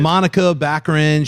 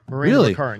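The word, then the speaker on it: Morena Baccarin: actor new actor continuity shity remember the phrase Monica backin she's in it Gina corano and TJ Miller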